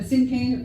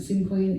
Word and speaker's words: cinquain: A cinquain, some people pronounce it cinquain, is a 5-line poem that totals 22 syllables.